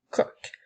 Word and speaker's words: coq: Tout d'abord, nous avons un coq. Le mot un s'écrit UN. Ensuite, nous avons le son K, O, K. Attention, le mot coq est un des rares mots qui se termine par la lettre Q.